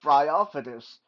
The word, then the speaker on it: Bryophytus: But no, I think it's pronounced Bryophytus. It's from a kind of moss or lichen called Bryophyte, and this guy definitely looks the part, right?